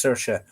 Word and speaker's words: Saoirse: Saoirse is another one that Yanks can't pronounce. English people can't pronounce. Saoirse.